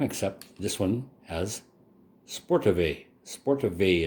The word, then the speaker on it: Sportowy: Sportowy is, I believe, how they pronounce that.